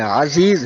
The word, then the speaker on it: عزیز: اور کہتا شاہ عبد العزیز. ابے گدھے، عزیز نہیں ہے، عزیز ہے. اردو ٹھیک کر، تلفظ صحیح کر.